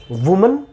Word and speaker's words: women: तो चलिए इसको भी मैं लिखूं, वुमन, और इसको हम विमेन पढ़ेंगे। तो अगर WOMAN की बात करें MAN तो इसे हम वुमेन पढ़ेंगे, और अगर प्लूरल है तो इसे हम विमेन पढ़ेंगे।